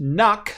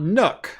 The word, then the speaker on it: NUC: and your work but it's pronounced knuck not nook i'm willing to die